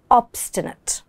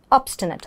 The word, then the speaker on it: obstinate: And the adjective is obstinate. Obstinate. I know this pronunciation can be a bit tricky. Let's see how to pronounce it. Word. So again, the I has a sound, yeah? Obstinate.